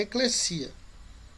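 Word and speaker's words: ekklesia: Mas se for usar ela no grego, a pronúncia é eclesia. Nunca tem som de Z, sempre som de SS.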